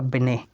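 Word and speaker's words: Binet: जो अल्बर्ट अभिनय है इसकी स्पेलिंग में ब्याह एनडीटीएल लेकिन इसका साउंड निकलेगा बने और फास्ट व्हेन ए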